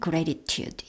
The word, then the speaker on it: gratitude: 무엇에 대한 감사기 때문에 4입니다 gratitude 뭐 다 발음해도 되겠지만 gratitude 예요 부분이 gratitude flap 발음 이 되죠 어